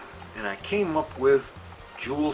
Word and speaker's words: Jool: I came up with Jewel City and for those that don't know that is spelled capital j-o-o-l uh because jewel is